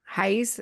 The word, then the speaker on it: Raiz: Raiz, like rice, like roots. Oh, Brazilian roots. Yeah. Raiz Brazil. Hmm. Highs Brazil.